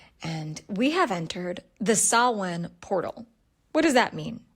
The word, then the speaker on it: Samhain: And we have entered the sawin portal. What does that mean? S A M H A I N. But pronounced Sawin, it's the ancient Celtic twilight of the year.